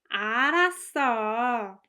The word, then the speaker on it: 알았어: it, I knew it, the verb 알았어 is stressed. So it's pronounced like this. 그럴 줄 알았어. 알았어. 그럴 줄 알았어. As you can hear, the emphasis, the stress is on 알았어, which makes sense because